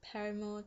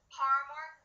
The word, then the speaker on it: Paramore: you why i hate paramore tokyo hotel and metro state for one it's not paramore it's paramore okay say it right paramore first off i obviously